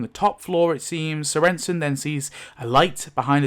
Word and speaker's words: Sorenson: but it's actually pronounced Sorenson.